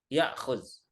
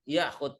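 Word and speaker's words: ياخد: Ya'khuz. Nah, zal menjadi dal dalam amnya. Wilazim ya'khud taksi.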